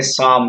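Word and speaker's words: psalm: उसी तरह से हम यहाँ बोलते हैं PSAL, इसको बोलते हैं शाम। शाम का मतलब होता है भजन। यानी इस तरह से पी भी साइलेंट होता है।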